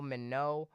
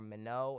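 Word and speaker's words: Minot: to Minnesota, mainly in the Dakotas, near Fargo, Mino, or I believe I'm pronouncing that right, Mino and Rapid City.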